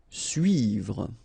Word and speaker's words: suivre: Okay, so this can be quite tricky for the English-speaking persons, because normally this U sound is quite tricky to make at the beginning. After that you can see that, well, you can make it, but then try to focus on it. So it's suivre, suivre, suivre.